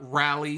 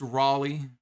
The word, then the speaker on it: Raleigh: am pronouncing is it raleigh it's not rally it's raleigh am i being corrected